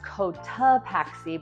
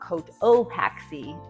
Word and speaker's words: Cotopaxi: This little town outside is pronounced Cotopaxi, but not Cotopaxi, even though that's how it looks.